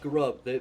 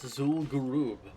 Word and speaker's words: Zul'Gurub: It's not Garub. They actually pronounced it in one of those Cataclysm cinematics. It's Zul'Gurub.